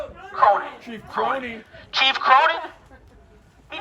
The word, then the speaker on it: Cronin: Cronin.